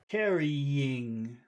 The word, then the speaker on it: carrying: that word in caring you've got to put a little e in the middle there carrying go ahead that's good